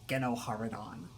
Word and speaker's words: GenoHaradan: I don't know, GenoHaradan is not that bad. It has like a certain cadence to it. It's almost fun to say GenoHaradan. And I know that's the correct pronunciation of it, even though I don't think anybody who speaks basic says the name in this game. If they do, it's only like once. But it's the pronunciation they stick with in Tor, because they do show